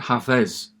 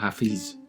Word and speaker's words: Hafez: And by the way, you pronounce it Hafez, not Hafiz, as I sometimes mistakenly say it.